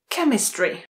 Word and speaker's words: chemistry: Chemistry. Chemistry. A pozor, ch se zase vyslovuje jako k.